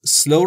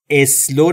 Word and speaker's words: slow: SL س یعنی آهسته تلفظ سلو رو هم دقت بکنید اسلو نگفتم دوستان اولش هیچ صدایی وجود نداره ما هم صدایی اضافه نمیکنیم سلو سلو اسلو نمیگیم سلو یعنی آهسته و آرام